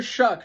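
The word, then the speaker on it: Shough: Tyler Shuck, not pronounced show, thank you for the correction, is going down in my rankings too.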